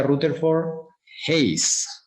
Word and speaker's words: Rutherford Hayes: Rutherford, se pronuncia Rutherford Hayes. Rutherford Hayes, con E.